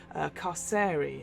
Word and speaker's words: Carceri: No, I think Carceri, hard C. I believe according to Chris Perkins, it's like incarceration.